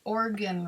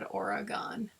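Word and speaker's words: Oregon: orgon for organ organ you guys pronounce it organ right not or cuz I grew up in Minnesota and all of us said origon and I know that's wrong it's got to be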